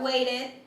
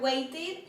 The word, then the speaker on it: waited: Wait sería waited y need sería needed. Cuando las palabras terminan en T o en D, la ed que se le agrega se pronuncia como id. id. Así, esto se pronunciaría waited y aquí sería needed.